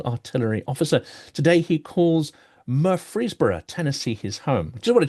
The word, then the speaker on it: Murfreesboro: Today he calls Murfreesboro, Tennessee his home. Just want to check. That's correct. And my pronunciation of it is correct too.